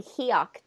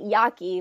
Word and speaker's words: Hiaki: Like 4 different tribes, but my mother tribe is the Hiaki tribe. That's how you really pronounce it. Um, I won't get that. Hiaki, but people call it Yaqui, but that's the name of our language and not our tribe.